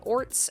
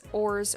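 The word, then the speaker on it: orz: despair dejection or frustration there is no set way to pronounce it people may pronounce it orts oars or oars just as i thought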